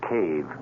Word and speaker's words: cave: For myself, I equate cave with the Latin word spelled the same way, C-A-V-E, but pronounced cave. It means beware.